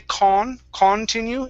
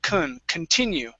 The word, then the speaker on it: continue: with this word here we don't want to say con continue it's okay because the beginning of the word does not receive the stress we say kun continue continued try that continued good